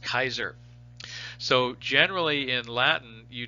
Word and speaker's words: Caesar: in caesar his name his last name family name was actually pronounced kaiser so generally in latin